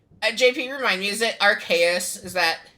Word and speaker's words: Arceus: Alright, and then, JP, remind me, is it Arceus? Is that pronunciation?